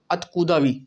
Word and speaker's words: Откуда: देर पहले देखा था अत कुदा अत कुदा में यह था अ कुदा ठीक है ओ था व अ की तरह प्रोनाउंस था आ की तरह और